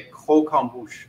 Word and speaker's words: croquembouche: one of those chef that's not how you say it you know um you say ko kombucha okay cook is to